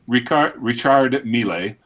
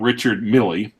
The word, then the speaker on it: Richard Mille: these brand names properly Richard Ricard retired me lay not Richard Mille Elise Nardin not Ulysse Nardin a leg a and